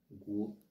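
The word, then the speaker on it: 国: Ce caractère se prononce guo.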